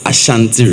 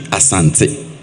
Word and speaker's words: Asante: Let me ask, why do we still insist on calling it Ashanti Region when it should be Asante?